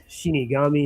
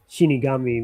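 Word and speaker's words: 死神: we got Shinigami and stuff.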